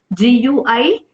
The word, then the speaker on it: guillotine: GUILLOTINE. We should pronounce it as guillotine.